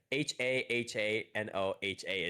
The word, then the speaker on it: Hahanoha: Yeah, because it's like they use it as HA in the romanization, but you can also do it WA. But it's like HAHANOHA is actually the abbreviation, and you pronounce it Hahanoha.